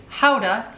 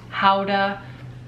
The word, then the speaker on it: Gouda: I've got some pottery it's actually Gouda pottery pronounced howda it's Holland it's Holland